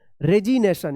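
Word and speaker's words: resignation: रेजिनेशन यहां पे ग उच्चारण नहीं होगा।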